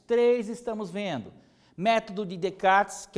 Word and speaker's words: Descartes: Gente, a pronúncia é Descartes. A escrita pode estar com um S aqui, um S no final, tá? É francês, se eu não me engano, seriam Descartes.